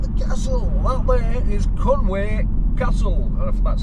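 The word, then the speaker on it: Conwy: guys look at the castle that there is Conway Castle that's how you pronounce it medieval as as you can get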